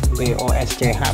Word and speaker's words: Bosch: Radiatornya tuh memanjang, terus ada kayak modul ABS dari Bosch ya, mana bacanya, BOSCH Bosch gitu ya.